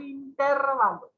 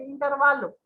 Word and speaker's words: intervalo: Esta es una palabra que siempre pronunciamos de esa manera. En realidad es intervalo. ¿Sí? Es una palabra grave y no es drújula, por lo tanto no debe de llevar tilde.